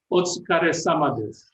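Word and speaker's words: お疲れ様です: It's otsukare-sama desu. Otsukare-sama. And it's thank you for that effort that you're putting in, in a way, making yourself tired. So that's an expression that is commonly used, otsukare-sama desu, when they see you doing things for other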